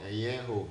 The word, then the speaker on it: Eyengo: Eyengo. The G is silent. Forget about the G.